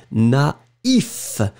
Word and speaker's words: naïf: But if you put the tréma, then it means that you will have to pronounce first A, na, and then separately you will pronounce the I, naïf, naïve.